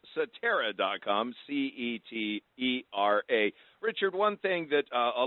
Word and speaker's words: Cetera: It's Cetera. It's sometimes it could be et cetera, but it is Cetera is how we pronounce it within our company.